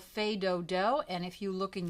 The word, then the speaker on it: Fais Do-Do: Okay, we have a brand new song called Fais Do-Do, and if you look in your book, you'll find it's the very first piece in the book. Fais Do-Do is without the S being pronounced.